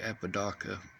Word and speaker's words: Apodaca: See, I had his name wrong to begin with. It's actually Apodaca.